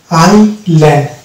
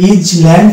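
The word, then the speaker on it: island: যেমন এখানে শব্দ আছে আই ল্যান্ড, এখানে এস কিন্তু সাইলেন্ট হচ্ছে, কারণ আমরা এটা যদি বলি ইজ ল্যান্ড তাহলে কিন্তু রং প্রনাউন্সিয়েশন হয়ে যাবে। অর্থাৎ এটার অ্যাকচুয়াল প্রনাউন্সিয়েশন হচ্ছে আই ল্যান্ড, অর্থাৎ আই এস এল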